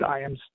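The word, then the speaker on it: Ijams: So The last name is spelled I-J-A, M as in Mary, S as in Sam. It's pronounced Iams.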